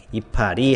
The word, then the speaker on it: 이파리: 전미사 이때도 마찬가지로 그냥 그대로 발음한 형태 이파리 하고 발음한 형태를 그냥 표기로 반영하고 있으니까 20항 붙임으로 연결할 수가